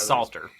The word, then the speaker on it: Salter: roommates so I think I think it's Salter honestly I think we've been saying it wrong it's Salter it is Salter yeah it's Salter yeah uh Justin Martin